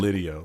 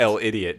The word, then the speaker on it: L'Idiot: But I think it's Oh, just Lidio. That's how they say it. Yeah, but it's spelled. it looks like idiot. El Idiot, but it's Lidio.